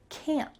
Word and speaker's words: can't: Well, first at the beginning, I can't. Do you notice that the T here is stopped?